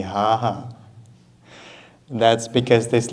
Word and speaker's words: Gaga: for example so good for ukrainians this is quite difficult sound to pronounce most of the time we just pronounce h so you'll hear people talking about Lady Gaga calling her lady haha that's because this letter